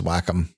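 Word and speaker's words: Wacom: said that just now I thought it was waycom the the the preferred pronunciation by the by the vendor was always whack interesting which is a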